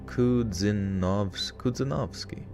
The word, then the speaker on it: Kudzanovsky: Kudzanovsky. Stress on the second syllable of.